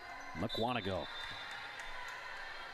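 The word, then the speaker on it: Mukwonago: and eventually you kind of just understand the pronunciation of towns in Wisconsin. McWanago.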